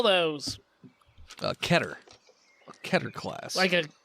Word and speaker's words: Keter: It's pronounced Katire.